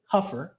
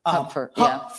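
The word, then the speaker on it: Hupfer: his actually name is actually pronounced Huffer Huffer I just learned that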